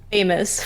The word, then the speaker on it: FFFFFamous: say it but um you can either pronounce it say the fs individually like or you can just um I think you use more air you can do the other way which is famous famous either one's okay what what's the